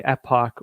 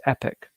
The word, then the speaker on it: Epoch: And so sometimes I do radio interviews, I say epoch or epoch, even though the technical American pronunciation is epic.